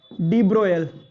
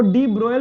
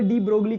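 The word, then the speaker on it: de Broglie: लिए लड़ रहा था, डी ब्रोयल, इसको डी ब्रोयल बोलते हैं, स्पेलिंग ये होती है इसलिए इंडिया वाले डी ब्रोगली के नाम से जानते हैं इसको।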